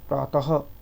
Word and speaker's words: प्रातः: अब यहाँ पे इसका जो उच्चारण होता है वो हा माना जाता है, प्रातः काल, ठीक है, इस प्रकार से।